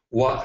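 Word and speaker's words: 和: The kanji that you have here on the screen means wa, is pronounced wa, and means harmony.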